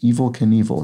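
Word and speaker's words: Evel Knievel: name in daredevilry IS Evil Knievel his name is spelled as though it will sort of it's pronounced as though it were the word evil meaning sort of bad or Sinister but uh is spelled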